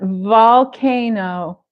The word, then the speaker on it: volcano: lake lake lake good here's a v up front volcano volcano these teeth gently touch this lip volcano they it could